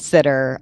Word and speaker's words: STTR: Yes, sir. Yep. By the way, is that how you pronounce that acronym, SBIR and sitter? So yes, SBIR and sitter. I try to just say SBIR, STTR to try to help it.